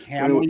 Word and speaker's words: Hamill: Two syllables. Hamill.